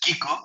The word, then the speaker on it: Kik: up today yes um Kik is how you pronounce it's a short form of you can also call